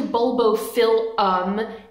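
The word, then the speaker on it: Bulbophyllum: EPM but it's actually bulbo filum and EP filum it's Phil not file so it's just been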